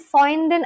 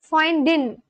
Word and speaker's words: Freund: Freundin. Freundin. Okay, Freundin is friends and Freundin is girlfriend and boyfriend is Freund. Freund. Freund. Freund. Oh, you do pronounce the R.